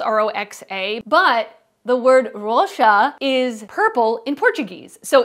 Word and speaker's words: Roxa: new Natasha denona palette and it's called the rosha palette I know that it's spelled Ro oxa but the word rosha is purple in Portuguese so it is pronounced